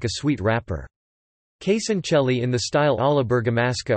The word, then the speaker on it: Casoncelli: Casoncelli, Italian pronunciation, Casoncelli, Casoncelli in the local dialect, are kinda stuffed pasta, typical of the culinary tradition of Lombardy.